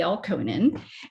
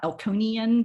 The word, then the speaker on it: Elkonin: And so I just wanted to make sure that you know this is a person, Elkonin. It's not Elkonian boxes or Elkonin. I've seen it spelled and pronounced in so many different ways.